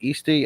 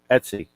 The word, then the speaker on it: Etsy: James's Quirky QRP on Hey, how do you pronounce it? Is it Easty, Este? Etsy.